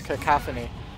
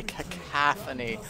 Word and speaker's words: cacophony: I know someone on my channel was getting mad at me for how I pronounce cacophony, because the second sounds like an A. I tend to say cacophony, but it's cacophony.